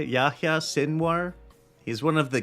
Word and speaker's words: Yahya: They're so Yahya, I think that's how you say it, Yahya Sinwar.